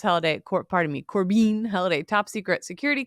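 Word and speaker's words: Korbein: unhinged corbian yeah cor it's probably pronounced Corbin yeah that's what I think it's Corbin yeah that's you know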